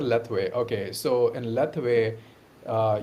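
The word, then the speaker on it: Lethwei: or something yeah uh you said leway leway right that's how you pronounce it leway okay so in leway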